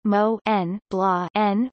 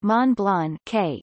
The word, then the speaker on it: Montblanc: mont blanc international gmbh pronounced mo n blah n or mon blan k is a german luxury